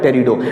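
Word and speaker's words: Pterido: फिर मैंने बताया कि टेरिडोफाइट में एक वर्ड क्या है, फाइट्स है, और एक वर्ड है टेरिडो। पी इसमें साइलेंट रहता है हमेशा। टेरिडो इसको पढ़ते हैं।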